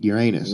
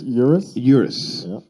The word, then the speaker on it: Urus: first i had to google the how the pronunciation was because i would have said lamborghini uranus right yeah and uh i don't think people